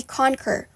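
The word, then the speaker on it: Konker: next website will be conquer which you may access by typing conquer.eo into your browser now that's spelled with a k not ac or a q it's k o n and k e r dot io and essentially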